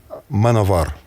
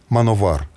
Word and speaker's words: Manowar: Uh, do you know that in Russia many people call man of war manavar? You know why? Manovar because of the W is pronounced V. Because it's something like they would read it in German.